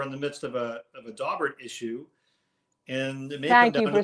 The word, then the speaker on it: Daubert: No, it's not Daubert. It's not. I said just listen to the person whose case it was say his name. He kind of knows what he's called. It's Daubert.